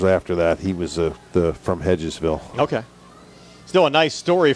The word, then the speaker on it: Hedgesville: Is it Hedgesville? Hedgeville, yeah. Hedgesville, the way they pronounce it.